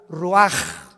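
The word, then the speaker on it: רוח: capítulo y exhaló Isaac el Roach así como suena se pronuncia la c en hebreo como J ruaj se le só y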